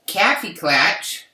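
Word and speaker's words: Kaffeeklatsch: Let's Kaffee Klatch. Can you see it? It's backwards, but it's spelled Kaffeeklatch.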